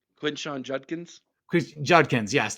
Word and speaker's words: Judkins: Judkins, yes, Judkins and Travion Henderson.